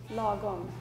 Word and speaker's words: lagom: Lagom. Lagom. So A is almost like O.